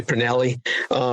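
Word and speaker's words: Pournelle: Men like Jerry Pernelli, who wrote The Mote in God's Eye, very definitive works in science fiction in the 20th century. And Jerry Pernell is another pronunciation of the individual's name.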